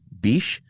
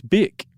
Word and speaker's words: Bic: Frenchman named Marcel uh would it be Bishe B I C. I think it's beak. Is it beak? That's why he dropped the H is so people could pronounce it.